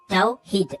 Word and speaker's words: tawhid: C'est-à-dire la prononciation du mot tawhid. Tawhid, unification. Et donc là, si on revient ici, et donc, il faut se poser une bonne question ici.